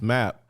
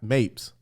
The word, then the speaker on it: Map: It's Map, but she said Mapes.